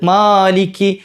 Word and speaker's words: مَالِكِ: മാലിക് ഓതുന്ന മാലിമിദീ മാലിമിദീൻ അത്ര നീട്ടണോ വേണ്ട മാലിക്കി എന്ന് അത്രയും നീട്ടണ്ട അവിടെ രണ്ട് ഹർക്കത്ത് നീട്ടിയാൽ മതി ഒരു അലിഫ് അതായത് മാലിക്കി മാലിക്കി അത്രയേ ആവശ്യമുള്ളൂ. മാലിക്കി ചിലര് എന്താണ് സ്പീഡിൽ ഓതി വരുമ്പോൾ മാലിക്കി എന്നുള്ള നീട്ടി തന്നെ പോയിട്ട് മലിക്കി ആയി പോകലുണ്ട്.